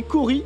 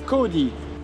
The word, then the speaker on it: kauri: Alors ça se prononce aussi kauri, les deux appellations sont tolérées, mais moi j'ai choisi kaori, voilà, c'est comme ça.